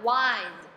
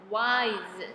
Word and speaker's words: wise: 发我，我来换字首，第一个聪明的 wise，这里的 i 呢发 i 的音，但是注意哦，s e 这里不是发 s，是发 z，所以我 eyes wise 是聪明的 wise，来等待，wait